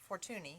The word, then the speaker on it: Fortuny: not familiar with fortuney it's spelt f-o-r-t-u-n-y fortuney fabric it is a fabric company